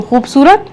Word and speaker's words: खूबसूरत: shut करेंगे बे साकिन खूब सूरत स् सुरेते जबर रत खूबसूरत का आपका उच्चारण भी सही होना चाहिए आशुतोष क्या पढ़ेंगे इसको खूबसूरत खूबसूरत खूबसूरत बिल्कुल ठीक है अच्छा उसके साथ बहुत